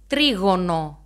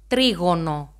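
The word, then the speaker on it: τρίγωνο: The first shape, as you can see, is the triangle, trigono. I have the pronunciation here, trigono.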